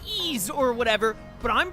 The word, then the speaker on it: Ys: It's pronounced Ease or whatever, but I'm pronouncing it wise.